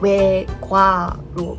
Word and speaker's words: 외과: 그래서 여기는 외과 했는데 보통 이렇게 보면 외과로 발음하지 않고 외과 이렇게 발음을 해요.